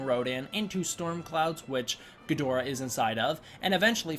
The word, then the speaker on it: Ghidorah: those of you wondering Toho's preferred pronunciation of the word Ghidorah in English is Ghidorah that's why I say Ghidorah so I don't say Ghidorah because they prefer Ghidorah that is the one that they market him under don't want